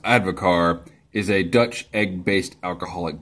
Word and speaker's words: advocaat: Devil's Advocate says, advocaat, pronounced advocar, is a Dutch egg-based alcoholic beverage.